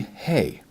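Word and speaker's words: הא: on in our Hebrew we get to the hay hay is two strokes just like that and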